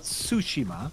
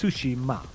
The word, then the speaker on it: Tsushima: So, so it's not Tsushima, Yeah. it's Sushima.